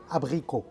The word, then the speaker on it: abricot: abricot.